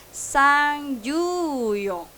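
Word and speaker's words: 三十四: Nah, digabung ini pengucapannya sang ju yong.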